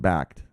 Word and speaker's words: Bakkt: they will be launching backed it's pronounced backed an exchange platform for